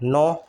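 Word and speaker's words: know: नो, नो में भी के साइलेंट है, नो बोलते हैं इसे, ठीक है।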